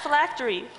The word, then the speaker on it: phylactery: Miss Park, please spell phylactery. Phylactery. Am I pronouncing that correctly?